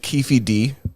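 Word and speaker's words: Keffe D: didn't uh rip pot man so they arrested kiefy D which I think is a funny name that's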